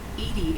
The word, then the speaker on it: EDI: is a jar why are you named edie edie is the phonetic pronunciation of edi that is an acronym for